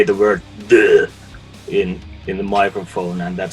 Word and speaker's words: Dö: Okay, people, it's pronounced Duh. Is that right? You pronounce it right. Oh, good, fantastic, Duh.